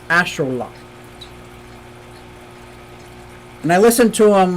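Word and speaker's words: axolotl: Museum which I'm very excited here we go pronounced Ash Ash ashol lot not axotal it's ashot and I listened to him like many many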